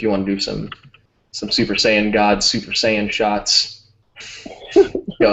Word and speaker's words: Saiyan: First of all, Fabio, you said it wrong. It's Super Saiyan. Right. You forgot that middle syllable.